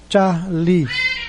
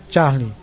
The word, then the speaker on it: Charlie: Então, traduzindo, Charlie, Charlie. Final, pronúncia mais forte, Lee, Charlie.